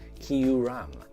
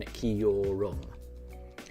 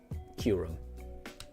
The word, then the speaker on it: Kyurem: Bulba King, you think that it's pronounced Kyurem rather than Kyurem. I mean, both of those sound very similar to me. I wouldn't really know the difference. Both of those are different to how I mispronounce it as just Kyurem. And I tried to smash it all into one syllable.